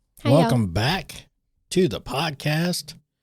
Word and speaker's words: Botha: Today we have Allison Ba or as I pronounced it was Botha. I said Ba. So you said Ba. Either way, I mean, you know, but I think the correct way was BA.